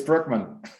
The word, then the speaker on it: Brueckmann: we have and is going to pronounce his last name for us what is it for us it's brookman there we go and he is an entrepreneur